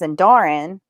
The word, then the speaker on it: Endarine: Which just makes it more complicated because then like my 15-year-old, her name is Endarin, Uh-huh. but the way it's spelled, it's spelled Endarine.